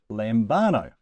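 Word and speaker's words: λαμβάνω: So it must go on the second to last syllable, lambano.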